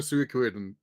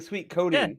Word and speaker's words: Suikoden: And it's pronounced Suikoden? I've been saying sweet codeine.